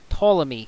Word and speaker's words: Ptolemy: beginning of this word the letter P is d voice it's not pronounced much like in the the name ptolemy spelled PT but if this part